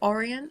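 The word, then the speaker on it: Orion: red planet is actually in the constellation of Oran or Oran that's how you say it and also this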